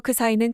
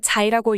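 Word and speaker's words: ξ: 그리스 문자에서 크 사이는 크시로 읽히기도 하며 영어식으로는 자이라고 읽히는 경우가 있습니다.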